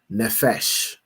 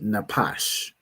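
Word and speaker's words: נפש: Right here, pronounce the word as nephesh because you know the the the Jewish man pronounce his p as a fa as an f cuz he's a fool, right? But this word would be napash, right?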